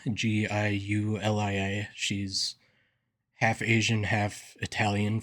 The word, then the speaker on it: Giulia: They had Julia, spelled with a G, Giulia.